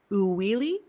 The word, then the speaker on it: Uili: I was like, okay, how do I pronounce that? It's Uwili.